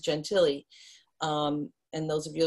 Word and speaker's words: Gentile: her last name was gentile g-e-n-t-i-l-e we we pronounced gentilly um and those of you are familiar with